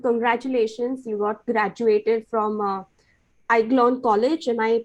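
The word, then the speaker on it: Aiglon: lakshmi i mean congratulations you got graduated from iglon college am i pronouncing it correctly yeah that's that's it yes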